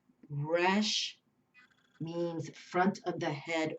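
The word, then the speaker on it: Resh: in the corner the Hebrew letter uh is Rush it's spelled re s Rush means front of the head or face things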